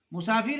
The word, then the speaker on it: مسافر: ہے وہ ہے مسافر۔ مسافر میں پہلا مضموم ہے، دوسرا مفتوح، چوتھا مکسور اور مسافر کے وزن